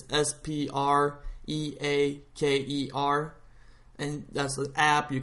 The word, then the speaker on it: Spreaker: it wrong or you don't know how to spell it, it's Spreaker, and that's the app.